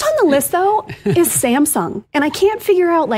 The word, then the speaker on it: Samsung: First on the list, though, is Samsung. And I can't figure out, how are people saying Samsung wrong? Samsung. Samsung. Okay. So Samsung. The wrong emphasis on the wrong syllable.